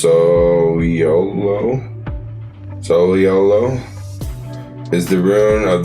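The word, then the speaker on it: Sowilo: I am Solo. Pronounced Soliolo.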